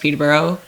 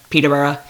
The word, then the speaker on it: Peterborough: think peterborough is great i know it's pronounced peterborough peterborough but i i developed the speech thing in which i anything that ends in o automatically gets changed to an uh so it's colorada toronto peterborough you get the idea